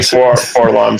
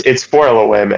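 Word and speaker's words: 4-LOM: No, it's 4LOM, and the reason why is you say things phonetically, like C3PO, so that people know how it's spelled.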